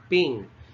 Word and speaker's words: PNG: announced as ping or this is pronounced as ping it stands for portable